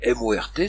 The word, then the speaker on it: mort: Or, on vient de voir que C-O-R-T se prononce court, mais M-O-R-T se prononce mort, parce que le O est un O ouvert.